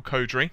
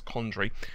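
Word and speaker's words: Condrey: Now, Michael Codry, hopefully I'm pronouncing that right. Actually, I'm pronouncing that completely wrong. I just realised it's Condry. That's C-O-N-D-R-E-Y. For some reason, my brain just kept farting and missing the N.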